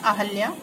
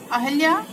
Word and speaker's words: अहिल्या: आगे है अहल्या। अहल्या बोलते हैं और हा में मात्रा लगेगी, हा में छोटी की मात्रा, अहिल्या हो जाएगा।